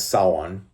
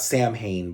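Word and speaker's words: Samhain: The Druid, rather, the druidic deity known as Sawan, not Sam Hayne, by the way. It's it's spelled like Sam Hayne, but it's pronounced Sawan.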